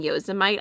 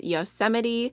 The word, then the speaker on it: Yosemite: This shade right here that I keep calling Yosemite, I got so many comments about how it's pronouncing it wrong, and apparently it is Yosemite, so I apologize.